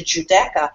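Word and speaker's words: Giuda: we don't have the if we want to make the J sound it's done with a G and that's why the Juda is often times spelled with a GI IU and people who are researching this get um uh sidetracked because you have to think of the phonetic the sounding of the word and not look at how it's spelled but to get back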